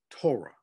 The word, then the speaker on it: Torah: called the tanakh the t in tanak and that's spelled t-a-n-a-k-h the first five books are called torah t-o-r-a-h torah really means instruction not law instruction